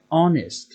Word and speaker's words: honest: An hour, look, यो hour, in honest, in an air, here the first letter ह is silent. यो चाहिँ silent हुन्छ। हामीले हावर भन्दैनौं, we say hour, honest, air, हामी पढ्दा त्यसरी पढ्छौं।